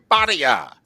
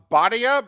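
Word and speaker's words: Bhatia: that again for us well I might have mispronounced it it's uh a uh Bia BHA TI a okay we'll go with it Bia all right he shot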